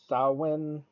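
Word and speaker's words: Samhain: Sam hay as a pagan Festival Sam Hayne pronounced as uh saan or saan but Sam H uh was a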